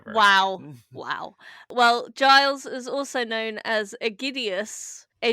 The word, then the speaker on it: Giles: stuttery but it's so it's guiles or any No no no it's Giles combination of or G's just a load of G's and I's and L's.